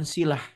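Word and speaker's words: صلة: Bahkan kawan-kawan, sholat itu, sod lam tak marbutoh, sholah dibacanya, itu bahasa Arab. Dan satu padanan kata dengan silah. Beda harokat doang. Sholah pakai fathah, sodnya sholah. Silah pakai kasroh, silah.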